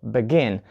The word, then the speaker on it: begin: Also, we have such verbs as begin. So listen, begin, not begin. So we put the stress on the second syllable, begin.